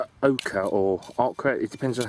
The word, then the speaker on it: oca: a looking at this this is something called Oka or AA it depends on how you pronounce it it's OCA is how it's pronounced it's spelled and it's